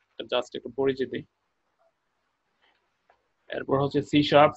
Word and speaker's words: C#: তো আপনি যদি শুধুমাত্র এই একটা প্রোগ্রামিং ল্যাঙ্গুয়েজ জানেন, তো আপনি সি শার্পটা সি হ্যাশ লেখা দেখতেছেন আপনারা, এটারই উচ্চারণটা হচ্ছে সি শার্প।